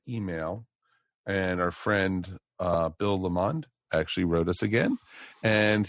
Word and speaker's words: Lamond: It really looks like lemon, but with a D at the end. Again, we say it's so that it rhymes with and meters with the pond. So it's Lamond.